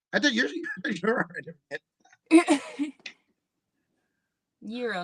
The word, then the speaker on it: gyro: Euro. Euro. Like the currency, euro. Like hero, but euro.